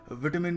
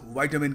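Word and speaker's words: vitamin: British थोड़ा विटामिन कहते हैं, अमेरिकन्स वाइटामिन कहते हैं।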